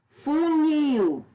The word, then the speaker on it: funil: Por exemplo, funil. A sílaba nil, que é a última sílaba, é a mais forte.